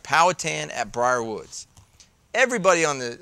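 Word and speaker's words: Powhatan: know about powatan and it is powatan Bruce don't don't say powan people get really mad some people say pal poh hatan correct you can't say it wrong because you will get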